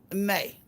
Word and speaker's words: Nay: Okay, it's pronounced like Janae. Nay.